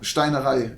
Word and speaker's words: Steinerei: did an entry into Steinerei. Probably mispronouncing that. I'm sorry, don't kill me, because I know you're German. German ST pronunciation is difficult. Yeah, Steinerei it would be.